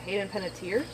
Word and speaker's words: Hayden Panettiere: Hickson, pronunciation. Is it Hayden Panettiere?